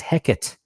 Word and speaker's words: Hecate: Hecate was pronounced as Hecate. It was a disyllabic pronunciation, not 3.